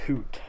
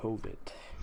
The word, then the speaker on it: H0v0t: I'm getting word that the team name is actually Hoot, not Hovit. Hoot? It's Hoot, and I guess the V is silent, so...